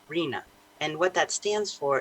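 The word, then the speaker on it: RHNA: And I want to be clear too, we sometimes talk about an acronym that's pronounced RENA.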